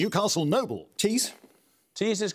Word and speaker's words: Tees: About 70 miles long, which river of northern England has a name that rhymes with words meaning a band of painted decoration or sculpture, an involuntary action known as sternutation? Newcastle Noble. Tees.